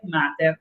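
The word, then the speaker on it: μάτηρ: Pero, ojo, en griego eólico se dice mater, como en latín.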